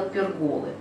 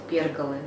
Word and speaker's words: перголы: бегал и я кстати до недавнего времени говорила перголы но посмотрела правильное ударение оказывается правильно говорить перголы читаю дальше плоды овальные